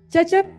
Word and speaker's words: Cecep: Orang Mesir kan enggak bisa bilang C ya. Bahasa Arab kan enggak ada C. Zaiba. Gimana cara baca ceap? Ya udahlah shipsip aja deh. Cecep diterjemahin shipsip. Syipsi itu dalam bahasa orang Mesir artinya sendal jepit.